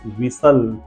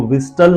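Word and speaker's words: whistle: देख लेते हैं और फर्स्ट वन इज विसल इसको विस्टल नहीं बोलते स्पेलिंग देख लीजिए डब्लू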